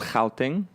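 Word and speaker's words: Gauteng: an Afrikaans word yeah that's actually replace it's spelled like Vee much the province I'm from it's called how thing ok and a lot of feel like this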